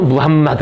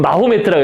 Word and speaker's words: 무함마드: 무함마드. 요즘에는 옛날에는 모하메트 요즘 마호메트라고 그랬구나. 어리는 마호메트. 근데 마호메트라고 안 하고 이제 그쪽 발음대로 그냥 우리가 무함마드라고 요즘 이렇게 한다고 합니다.